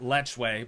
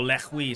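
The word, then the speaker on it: lechwe: all right so that is the Nile properly pronounced lechway but we all know Lech Hui sounds way cooler also a little French now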